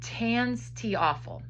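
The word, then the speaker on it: TANSTAAFL: Its slang name is tanstiaphel. Tanstiaphel, that's how you pronounce that, which means there ain't no such thing as a free lunch.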